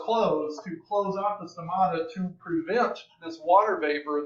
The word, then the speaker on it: stomata: But also another thing that happens is that these guard cells that make up the stomata, you got to say it like an Italian, stomata, and I'm half Italian, so I can get away with that.